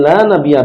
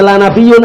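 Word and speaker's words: لا نبي: Kemudian bacanya apa? La nabiyya, bukan nabiyun ya. La nabiyya ba'di. Artinya apa? Nah, bahwasanya tidak ada nabi setelahku. Kalau bacanya la nabiyun artinya apa?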